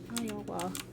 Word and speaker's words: Iowa: was like Oh no I got two syllables no it has three oh it does you're right oh Ohio yeah right so it is Iowa Iowa H it's linguistically l